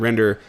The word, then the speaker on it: RNDR: octane's version of a render Farm we'll get more into that later but it's going to be replaced shortly with something called render that's spelled rndr which is a new